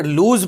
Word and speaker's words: lose: उच्चारण लूज पढ़ेंगे।